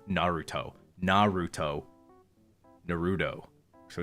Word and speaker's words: Naruto: don't know Japanese sensibilities they'll say Naruto instead of Naruto Naruto Naruto so it's